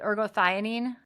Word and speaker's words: ergothioneine: And that's where those are not, olive fruit and is it ergothioneine? Is that how you pronounce that?